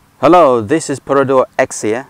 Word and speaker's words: Axia: hello this is porado exia some people pronounce it azir these cars are built